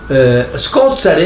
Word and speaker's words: Scozzari: Scozzari è la variante palermitana, con l'accento ritratto sulla terzultima, di scozzare, che è plurale di scozzaro, che è, diciamo, una ripulitura del termine scorzaro.